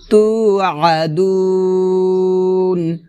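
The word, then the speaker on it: تُوعَدُونَ: গুণ হবে, কুং তুম তু আদুন, তু আ তু আদুন এটা হবে না, হবে তু আদুন, মানে আইনটা গলার মাঝখান থেকে চাপ দিয়ে উচ্চারণ করতে হবে।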